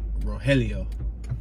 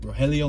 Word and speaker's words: Rogelio: we have stanley rogelio it's spelled rogelio but i believe in spanish the g is supposed to be silent so it's like rogelio rogelio mini market fresh meat vegetable